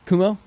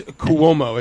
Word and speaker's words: Cuomo: so everybody's looking at how we kumo kamal it's cuomo it's like exactly how it's spelled c-u-o-m okay so como uh we'll just call